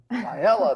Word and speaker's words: Failla: Did I mispronounce that correctly? Failla. Failla, there we go.